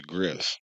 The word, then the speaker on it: Griff: I said his name wrong earlier. I said Professor Gil or some It's Professor Griff.